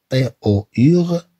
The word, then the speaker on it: tour: Après, on a T-O-U-R se prononce tour.